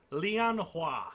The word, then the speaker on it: Lianhua: he points to the orc what's yours name leon hua i will spell that for you l-i-a-n h-u-a and the female